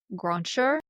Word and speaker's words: Grancher: Jacques Joseph Grancher, How do who you spell it? encouraged it's French. It's Grancher, Grancher.